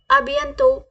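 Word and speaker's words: à bientôt: soon okay C you soon तो कैसे बोलेंगे अभ यंतो कैसे बोलेंगे अभि अं तो अभि अं तो अभि अतो प्लीज ट विद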